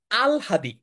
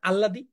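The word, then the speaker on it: আহ্লাদি: লিখতে পারছি না হসন্ত এটার উচ্চার হচ্ছে আল হাদি আমরা এটাকে বলি না আল্লাদি আল্লাদি বলি আহলাদি বলি এটার উচ্চারণ হচ্ছে আল হাদি সরে ল নিচে একটা হসন্ত হ আকার দরকার আল হাদি এটা একটু ব্যতিক্রম এই কারণেই এটা এডমিশন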